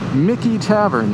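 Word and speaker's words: Michie Tavern: Mickey Tavern. That's how that's pronounced. And this goes back to the 17 late 1700s, so 18th century.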